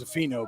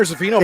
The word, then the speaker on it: Zaffino: So they announced that as Zaffino, but no, it is Connor Zaffino bumping down to 139.